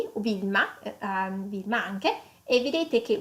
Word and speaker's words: Wilma: `` u '' et Wilma comme vi à la place ok donc ce sont